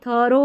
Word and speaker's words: through: अब ये थरो है, ठीक है, थरो यहाँ पर भी नहीं पढ़ रहे हैं।